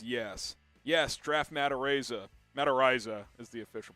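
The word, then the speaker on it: Matt Araiza: yes menser says yes yes draft mata raza mataraiza is the official pronunciation 81 saying yes coop let's get the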